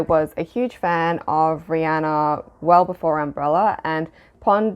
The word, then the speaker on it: Rihanna: Yes, it is pronounced Rihanna, apparently, and we have all been pronouncing it incorrectly as Rihanna.